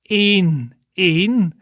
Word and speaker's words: één: Then the next one is één.